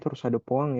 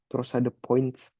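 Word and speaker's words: torsade de pointes: Nah, bacanya torsad de Poing ya. Jangan bahasa jangan sok-sok bule. Torsad de Points.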